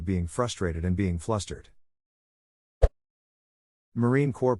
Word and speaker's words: Marine Corps: s in Illinois as a non-native speaker it's pronounced Marine Corps right unless they're dead in that case it